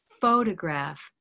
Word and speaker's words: photograph: correctly the first time photograph has stress on the first syllable photograph rows bowed photograph photographer has stress on